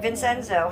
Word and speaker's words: Vincenzo: So I know I said your name wrong. Vin Senzo. No, that's right. Vincenzo.